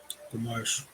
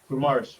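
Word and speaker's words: Guimarães: Gomares. Guimaraes.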